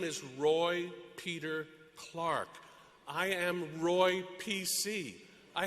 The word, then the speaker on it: Clark: to Rhode Island to hear my last name Clark pronounced like the timepiece clock hickory dickory dock my name is Roy Peter clock from the Catholic perspective